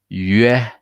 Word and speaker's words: 约: And then we have the 约, 约, start with E, right? 约, 约, perfect. That's how we pronounce the G, T, C, E with the U.